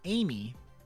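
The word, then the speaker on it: Ai.Me: oddly specific but thankfully tcl's aim me pronounced Amy is exactly what you're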